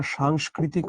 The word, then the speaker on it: সাংস্কৃতিক: তেমনি আমরা যখন বলি না সাংস্কৃতিক অনুষ্ঠান বা কালচারাল অনুষ্ঠান সেটাও হচ্ছে এরকম। সাংস্কৃতিক। আমরা এটাকে কি বলি? সংস্কৃতি। সাংস্কৃতিক। না সংস্কৃতি। সাংস্কৃতিক।